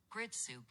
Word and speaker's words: Gritsyuk: Am I pronouncing that name correctly? Hang on. Grit soup. No, apparently not. It's Grit soup.